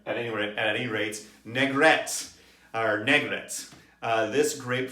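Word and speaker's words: Négrette: called n-e-g-r-e-t-t-e and uh the french have a little axon mark over the first e so i think it's negat at any rate this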